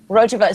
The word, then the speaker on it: Rojava: Rojava.